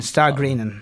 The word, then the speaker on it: Stagrennan: that because I'm just confused again about the pronunciation s t a g r e n n a n star greenin okay that's the uh and just put that